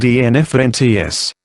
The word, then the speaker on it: enfants: "Enfant," said Henry Irving briskly, seizing the opportunity to re-establish himself as a French speaker, "means children, spelled enfants, pronounced enfant."